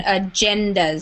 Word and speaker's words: agendas: I just wanted to correct the pronunciation on this one, agendas. So it has a j sound, agendas there. Agendas, yeah.